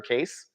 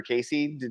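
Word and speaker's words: Cayce: to read about um Edgar case back in the day or Edgar Casey depending on how you want to pronounce it right yeah I used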